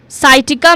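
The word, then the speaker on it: sciatica: साइटिका में क्या कर रहे हैं? सी को अगेन साइलेंट कर रहे हैं। और इसको ऐसा बोल रहे हैं कि जैसे सी यहां पर नहीं है।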